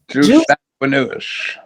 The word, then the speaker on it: jus sanguinis: Well, it says current law in the United States features, how you pronounce it again? Jus sanguinis. Jus sanguinis options for children born abroad to U.S.